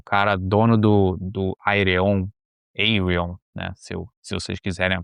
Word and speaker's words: Ayreon: É o cara dono do Ayreon, né, se vocês quiserem a pronúncia correta.